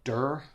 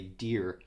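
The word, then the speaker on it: Dir: The perfumer is Claude Durr. I say Durr. I heard somebody else one time say Deer, but it's Claude, D-I-R.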